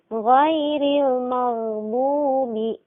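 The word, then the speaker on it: غير المغضوب: Nah, padahal ghain ini bukan huruf qalqalah. Seharusnya bagaimana? Ghairil maghdubi. Mengalir suaranya, tapi tertahan nafas.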